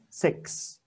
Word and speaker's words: six: chứ OK và xế A và sắc ok six six có nhiều người kia đọc là xích ai cũng thích video tôi sáu